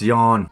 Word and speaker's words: Jan: Policeman, his name is Jan. It's pronounced yawn.